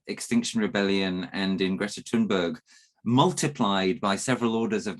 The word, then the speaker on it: Thunberg: Thunberg, I believe is how you say her name in Swedish, but Thunberg.